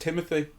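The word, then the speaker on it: Timothée: he discovers Oliver right I think his name is pronounced Timothy despite the way it's spelled I've heard him say it. He's just an American guy. Okay. Timothy Charlemagne.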